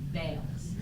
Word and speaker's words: Bayless: I'm concerned about the pronunciation of Bayless. B-A-Y-L-E-S. We're all saying Bayless.